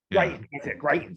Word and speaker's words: Greitens: Greitens, that's it.